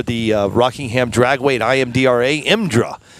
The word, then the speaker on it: IMDRA: uh Rockingham Dragway imdra imdra is how they say it and then on Deck